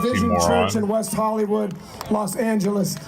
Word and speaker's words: Los Angeles: org he's an lgbtqia pastor and a pastor of vision Church in West Hollywood Los Angeles or let me say it like this Los Angeles Los Angeles please give it up